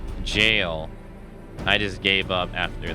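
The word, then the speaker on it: Gaol: the ciance hey man the world gal is pronounced jail I just gave up after that that's how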